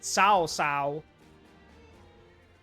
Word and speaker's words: Cao Cao: And yes, that is how you pronounce it, Cao Cao.